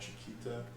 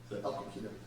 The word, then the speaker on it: El Coquito: I'm gonna mispronounce this. I'm gonna call it Chiquita. Yeah, yeah. El Coquito.